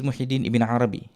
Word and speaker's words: Muhyiddin Ibn Arabi: He pronounced it correct, okay, which is Muhyiddin Ibn Arabi. The writing is, I would say, a bit misleading.